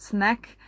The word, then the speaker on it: SNAQ: That app is called Snack. It is spelled SNAQ.